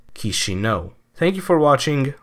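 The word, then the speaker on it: Chișinău: It's 3 syllables. Ki as in kiosk, Xi as in Xi Jinping, and No as in no. And the emphasis goes on the final syllable, so you put them together and you get Kishino.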